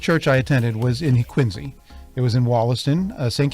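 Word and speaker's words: Quincy: pronounce it correct tonight quiny if you're from the Southshore of Massachusetts or from the city of quiny that's how you pronounce it with a z sound just so you know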